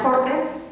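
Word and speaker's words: Haarde: Primer Ministro keir jorde jarde se escribe pero se pronuncia jorde y luego tres ministros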